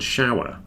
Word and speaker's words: shower: at the other week with the difference between the sh and the S this is why it's important shave and shower this is what you do in the morning well men do I don't know if women shave every morning shave and shower not the same as save and sour save and sour are different words you see the difference shave save shower sour very different we need to get